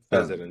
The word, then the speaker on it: Fessenden: I always mispronounce his name. Larry Fessenden. Yeah, Fessenden. Fessenden, yeah.